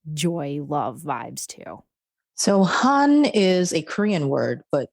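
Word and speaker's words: 한: Is the word pronounced Han? Han.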